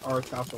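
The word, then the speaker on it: Orichalcum: I just searched it up, and that's how it says that's how it's pronounced. So it's auricalcum. Well, they're narcissistic. That is so narcissistic of you to say auricalcum.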